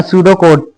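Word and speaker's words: pseudocode: लगातार नहीं खेला अ सूडो कोड pronounce सूडो कोड ठीक है प्रोनाउंस ये किया जाता है अब यहां देख लो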